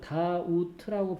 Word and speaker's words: doubt: 그 다음 단어는요 doubt라고 발음합니다. B 소리가 안 나거든요.